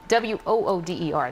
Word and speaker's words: water: I've very Philadelphian after all these years water wo OD er that is I love that remember you can